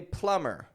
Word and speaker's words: plumber: so check this out even if we add more letters onto those words the B remains silent so instead of saying Plum let's say say plumber you know uh like